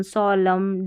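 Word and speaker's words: solemn: Rule number 10 है साइलेंट N इन MN, यानी शब्द के अंत में MN रहता है ना, तो N का उच्चारण नहीं होता। तो ये भी कुछ स्पेलिंग्स आती रहती है, जैसे MN आखिर में रहेगा तो इसमें N का उच्चारण नहीं होगा, जैसे ऑटम, कॉलम, सोलम, डैम, इस तरीके से MN का कॉम्बिनेशन आखिर में ही आता है और N साइलेंट होता है।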